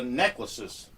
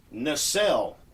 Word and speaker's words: nacelle: This is the cowling around the engine, or it is the necklaces. It's pronounced nacelle, and that is a streamlined housing or tank for something on the outside of an aircraft or motor vehicle.